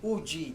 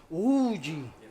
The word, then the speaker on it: Voge: Uji that's how you pronounce vo. Okay. So ayun guys, titignan pala natin 'yung mga motor pareho ng RR60. Uji is that right?